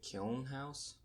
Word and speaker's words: Kiln House: I think you pronounce it Kiln House.